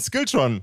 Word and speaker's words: SKILTRON: Gäste mit am Start, nämlich die zauberhafte Band SKILTRON. Did I pronounce that right? Perfect. I thought it would have a more Scandinavian ring to it when I say it. Like SKILTRON, is that more correct?